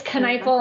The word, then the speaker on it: Kneifel: It's Kneifel, and this is what I always say. I always say the K is hard, and then think fork and knife.